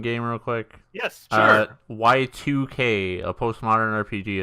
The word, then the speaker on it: YIIK: it's spelled YIIK, Y2K.